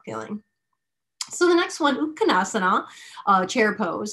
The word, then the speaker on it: Utkatasana: So the next one, Utkatasana, chair pose, and technically that A is silent for my purists out there for Sanskrit.